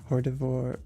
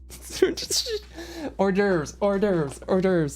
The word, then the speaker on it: hors d'oeuvres: or she'd stop in the wait staff with Hordivore. Sorry, I can't. With the patter. Oh, I'm so embarrassed. I can't pronounce that. Snack bar. That's where I would go. Hors d'oeuvres.